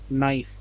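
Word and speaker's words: knife: अब आप इस वर्ड को एक बार पढ़ो, ये क्या लिखा है, दिस वर्ड इज नाइफ। अब किसका साउंड आपको नहीं मिला, आपको साउंड नहीं मिला के का, so K is the silent letter।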